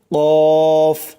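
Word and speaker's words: ق: লাগাইয়া কফ, মোটা করে কফ। তারপর চলুন 5 নম্বর মাখরাজ। 5 নম্বর মাখরাজ হচ্ছে জিহ্বার গোড়া হইতে একটু আগে বাড়াইয়া তার বরাবর উপরে তালুর সঙ্গে লাগাইয়া উচ্চারিত হয় কাফ। কাফ, শক্ত করে কাফ।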